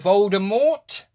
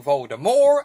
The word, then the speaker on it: Voldemort: Young Voldemort, or young Voldemort, depending on how you say his name.